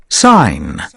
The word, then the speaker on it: sign: Sign. Sign. وجي لا تلفظ بنقول sign.